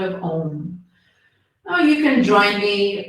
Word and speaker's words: Om: But all we're going to do is just chant the sound of Om, which is 4 syllables. Ah, O, and the silence after.